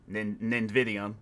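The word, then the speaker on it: Nividium: Nvidium.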